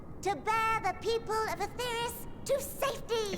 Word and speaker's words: Aetherius: As of now, our mighty moon has a new purpose, to bear the people of Aetheris to safety. Aetherius. Perfect. Thank you.